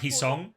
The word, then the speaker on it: Heesung: Heesung is pronounced like Heesong.